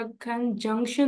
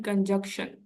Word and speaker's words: conjunction: इसकी प्रोनाउंसिएशन देखनी है कि ये आपका कंजंक्शन नहीं होता, एन इज साइलेंट हियर। ठीक है, आप इसको प्रोनाउंस करते हैं कंजक्शन, कंजक्शन। ठीक है, एन आपका जो है ना वो साइलेंट होता है।